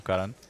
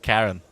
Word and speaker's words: Karan: certainly assume by default I will correct your pronunciation there because that is an Indian name Karan it's actually my brother's name as well but St Karen is a bit of